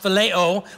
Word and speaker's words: phileo: And then we have another Greek word pronounced phileo, which is more brotherly love, friendship love.